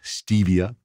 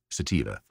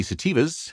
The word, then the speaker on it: sativa: year on the podcast, some people mispronounce that sometimes. It is not stevia or sativa. It is sativa. And here in the Okanagan, the sativas, as we found out